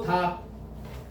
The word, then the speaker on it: 닭: 달이 아니고 닭, 흘과가 아니고 흑과.